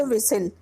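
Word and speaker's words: whistle: विसिल में H silent है और टी भी साइलेंट है।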